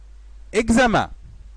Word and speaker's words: examen: On trouve le son gaz dans les lettres E, X, plus voyelle ou initiale du mot. Par exemple, examen, examen.